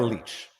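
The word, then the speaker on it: Lich: get confirmation I suppose Tamara knows how to pronounce her own name it's Tamara leech so that's it end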